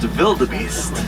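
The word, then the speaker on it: wildebeest: means wild beast and they pronounced their W's like a V so it would actually be pronounced vilda Beast W the beasts are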